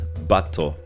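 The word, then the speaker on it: バット: The card we're looking at this time is Bat, or as is pronounced in Japanese, Batto.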